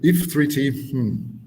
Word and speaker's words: IFTTT: IFTTT, what is it? IF3T.